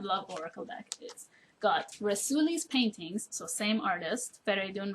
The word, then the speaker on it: Rasuli: Everybody always talked about Rasuli, so I thought, well, he's probably Italian, but because his name is pronounced Rasuli in Persian and his first name